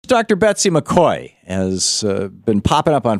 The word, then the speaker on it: McCaughey: Betsy McCoy has been popping up on Fox News a lot lately, talking about how the Affordable Care Act, a.k.a.